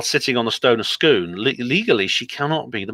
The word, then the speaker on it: Scone: It's Scone. It's actually pronounced like scone, like they drink.